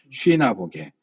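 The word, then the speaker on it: συναγωγή: 넷째 줄에 보면 쉬나고개라는 여기 수라고 했는데 쉬가 맞는 발음이에요. 쉬나보게.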